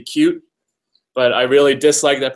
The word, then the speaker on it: Qt: this so that but the correct way the way they tell you to pronounce QT is actually supposed to be cute but I really dislike that pronunciation so I always just call it QT anyways I refuse to